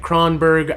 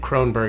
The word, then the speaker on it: Kronberg: Like Cronberg I've accepted. Croninberg I accept.